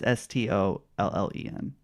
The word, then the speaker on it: Stollen: It might be pronounced stolen. I don't know if that helps you at all. It's Stollen.